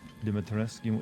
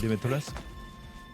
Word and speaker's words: Dimitrescu: That pronunciation, what, Dimitrescu? So you say it, right? Yeah, it's more like probably like Dimitrescu than anything else, I guess.